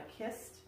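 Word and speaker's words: cist: It's actually what's called a kist. It's spelled C-I-S-T, which is it's like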